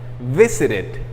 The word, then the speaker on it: visited: Si el verbo termina con T o si el verbo termina con D, entonces la pronunciación del final es it, como una I y una D. Por ejemplo, visited, visitar, termina con una T.